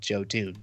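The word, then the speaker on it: Jotun: and they were they were talking about yotan obviously call it jotoon so that people like hear that and that's what cuz you know you see it's like oh I don't wanna spell that but you say jotoon and they can find the game so the developers themselves actually tell people at trade shows it's called jotoon uh-huh uh-huh you laughed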